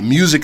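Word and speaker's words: muzik: that ghost music song is on there the music is spelled m-u-z-i-k by the way okay that was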